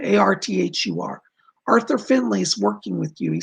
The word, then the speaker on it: Findlay: that correct sir yes finley it looks like finn lay but it's pronounced finley arthur first name a-r-t-h-u-r arthur finley is working with you